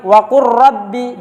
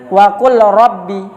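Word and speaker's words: وقل رب: Waqur rabbi, jangan waqul rabbi, lamnya tidak dibaca.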